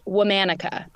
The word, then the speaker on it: Womanica: It is pronounced Womanica. Womanica.